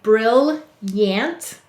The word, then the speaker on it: brilliant: Because you say brilliant, but we need to add in that extra O for say to spell.